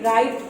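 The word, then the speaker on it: write: Number 3 है राइट, तो उसमें भी राइट बोलते हैं तो W नहीं, साइलेंट है W, तो उसमें अंडरलाइन किया हमें W पे।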